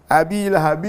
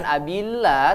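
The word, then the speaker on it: أبي لهب: lahabin hadiah sambung menjadi abilahabi mukhatab Idgham Bighunnah berarti tidak ada tasnya ya jangan Nabila tapi Abi Lah Abi Lahab ya oke seperti jadi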